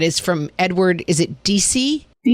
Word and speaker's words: Deci: Is it DC? Deci. Yes, we'll go with DCI and pronunciation.